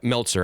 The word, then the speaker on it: Meltzer: Yeah, Meltzer. I'm sorry, that's what I always say it wrong.